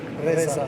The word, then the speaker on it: Reza: Reza, yes. He said Reza.